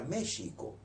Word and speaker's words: México: No obstante que la pronunciación es modernamente con J. Lo que ocurre es que esa X se pronunciaba. La palabra era México.